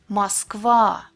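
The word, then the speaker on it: Москва: When it's unstressed at the beginning of the word or right before the stressed syllable, it's pronounced like A. Oligarch, Moskva.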